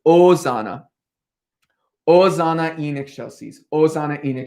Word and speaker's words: Hosanna: a reminder it's not hosanna um in this version of latin we're doing you don't pronounce the h so it's osana ozana enoch chelseas ozana